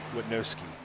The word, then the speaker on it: Witnowski: I've had a person, I guess, saying I've been saying his name wrong. It's Witnowski. I believe I said it right this time.